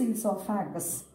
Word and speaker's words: esophagus: O is silent here. O, E-S-O-P-H-A-G-U-S. Okay, so we learn it properly. This is esophagus.